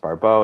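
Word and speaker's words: Barbault: So, first of all, who was Andre Barau? You know, in French, his last name is pronounced Barau.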